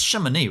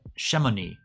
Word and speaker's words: Chamonix: Is that it's Chamonix, right? Chamonix. Chamonix. I can feel something coming up with that. Chamonix van. Hey, by the way, 6 watching and 6 thumbs up. That's a good ratio. Chamonix.